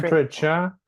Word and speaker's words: temperature: temperature is Temperature. temperature. 3. 3 too. Yes, 3. And the stress is on the first syllable.